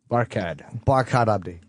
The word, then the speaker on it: Barkhad Abdi: It's Barkhad Abdi.